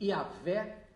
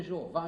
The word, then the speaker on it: Yahvé: Esse Yahvé é o que vocês conhecem como Jeová. Só que Jeová é um erro, é uma forma errada de se escrever e falar. O certo é assim.